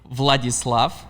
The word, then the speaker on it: Vladislav: sent me an audio message yeah and you pronounce it so how do you say your name properly vladislav so you guys understand why i had so